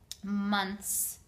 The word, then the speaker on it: months: is between your teeth months she became sick blind deaf talk not make sure you're pronouncing the consonant sounds at the end of the words helen was a difficult